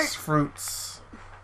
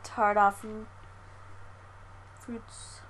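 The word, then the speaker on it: tarte aux fruits: Ox fruits. Is that how you say it? Tarte? I think the X is silent, so it's like tart off fruits.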